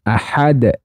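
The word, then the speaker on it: أحد: jadi cara membacanya yaitu lamnya dibaca jelas Allahnya dibaca tafhim ahadunya Dibaca qalqalahb Kubro Qul huwallahu Ahad nah seperti itu jadi dipantulkan pantulkannya ke huruf as aslinya kemudian ayat yang kedua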